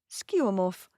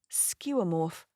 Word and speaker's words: Skeuomorph: Skeuomorph. Now you know how to say it, what it is, and where to say it, and how lovely it is to say it. Skeuomorph.